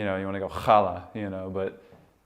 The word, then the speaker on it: challah: make the you know you want to go holla you know but it's not pronounced challah if that's what you're wondering it